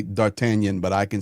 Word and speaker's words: D'Artagnan: Yeah, D'Artagnan. Yes. Uh That's how you say it properly.